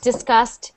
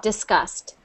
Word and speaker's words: disgust: They just sound like disgust and disgust. Disgust and disgust. They're very, very, I mean, they sound the same because we don't pronounce the G very, very strong there. Disgust.